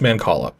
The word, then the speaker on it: mancala: pronounce this word okay the c is a k sound so mancala okay so yeah i just looked it up because it was but it was bugging me because it's so many ways so many ways you could pronounce that but it's man call up so that's the way